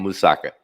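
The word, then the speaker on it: moussaka: Oh gosh, how do you pronounce that? Musaka.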